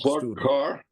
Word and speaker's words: Clark Kerr: Is that pronounced Clark Carr?